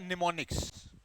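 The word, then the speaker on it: mnemonics: दूसरा होता है निमोनिक्स, पर इसकी स्पेलिंग होती है MEMONICS, मेथड।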